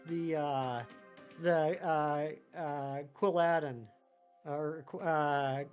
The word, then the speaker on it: Quilladin: uh the uh uh quilladin or uh quilladin or whatever I know it's supposed to be Paladin so that would yeah I guess it' be quilladin I'm like the quillin of